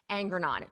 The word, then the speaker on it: Angrignon: It's Angrignon. Angrignon. Angrignon. There we go. The second G is silent.